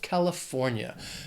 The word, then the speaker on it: California: It has 4 syllables, stress is on that third syllable, California.